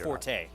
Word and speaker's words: Forte: just wasn't as good as Fort or Forte depending you want to pronounce it correctly Forte I have nobody's the